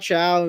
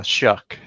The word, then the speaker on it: Shuck: um we've talked about Shia and is it or show I forget what it is it's Shia right the is that how you say it again Bruce we talked about this last last week yeah it's uh shuck yeah sorry Shu that